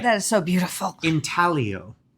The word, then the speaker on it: intaglio: The G is silent. Like lasagna.